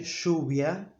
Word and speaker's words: lluvia: And I say lluvia like the letters sh in English or sh in German, etc.